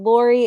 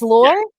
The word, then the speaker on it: Laure: are live today with author estelle laurie is that pronounced correctly war war it's lore yes it's like okay awesome